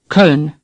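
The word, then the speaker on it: Köln: off desert off next cone say cone in English we call the city Cologne now we have an O with two dots pronounced air somewhat similar to our serve or Colonel say sir say Colonel now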